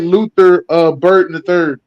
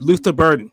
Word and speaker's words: Luther Burden: weapon, and I wonder if they could get Luther Burton the third. Am I saying this right name right? From Yeah, you Missouri. said it right. Yeah, you said it right. Luther Burden, the third.